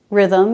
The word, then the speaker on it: rhythm: in ghost or ghetto h is silent after r like in rhyme rhythm and rhubarb but this rule doesn't